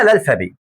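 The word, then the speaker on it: alphabet: بالفرنساوي اسمها الفابي، اللي هي الف باء بس احنا ما بننطقش التاء، فاسمها الالفابي.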